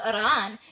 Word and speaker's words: Iran: are informing you that it's pronounced irran and you should have already learned that from your Iranian wife.